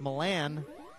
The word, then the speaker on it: Milan: Apparently it's pronounced Milan, like it's in Idaho or somewhere. It's in the state of Texas, where it would be pronounced Milan.